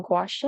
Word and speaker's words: gouache: I'm using gouache, I think is how it's pronounced.